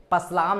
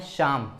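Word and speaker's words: psalm: आप क्या पढ़ते हैं अस्सलाम नहीं पढ़ना है इसे इसे पढ़ना है शाम शाम का मतलब होता है भूत लिए सॉरी शाम का मतलब होता है भजन ठीक है गीत होता है तो यहां पे पी भी आपका क्या है साइलेंट है एल भी आपका साइलेंट है पी के साइलेंट है मैं अभी तुरंत बता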